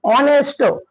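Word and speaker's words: honest: वापरायचं Anwar नेक्स्ट example H ओ एन एसटी इथं जरी एच असेल तरी आपण ऑनेस्ट म्हणत नाही याचा उच्चार असतो ऑनेस्ट ऑनेस्ट म्हणजे याची स्पेलिंग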